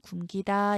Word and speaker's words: 굶기다: 같은 원리로 굶기다, 리을 미음 대표음 미음 남는데 어간 받침이 미음이더라도 뒤에 어미가 아니라 전미사, 피동사동의 전미사가 왔죠. 이때는 굶기다 이게 맞습니다. 자, 이게 중요한데요.